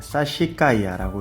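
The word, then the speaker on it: Sassicaia: 사시카이아라고 읽고요.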